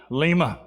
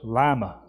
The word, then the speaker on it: Lima: Okay, the capital of Peru is Lima, but in Ohio it's Lima.